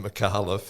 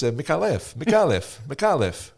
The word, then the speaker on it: Micallef: I've been pronouncing it Micallef, and any Maltese worth their salt will come up to me and say, no, it's Micallef.